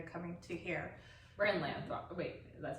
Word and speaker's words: Lathrop: We're in Lathrop.